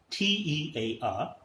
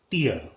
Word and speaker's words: tear: different rules and regulations next word t-e-a-r it is as a noun it is tear there were tears in his eyes next is t-a-r as a verb it is tear down tear this sheet otherwise there will be